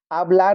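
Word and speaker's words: hablar: आलार लिखा है तो ए से आलार में ए से शुरू हो रहा है।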